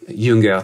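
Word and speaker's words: Jünger: And Junger, I think he's, Junger, to pronounce it the German way, I think he sees that respect.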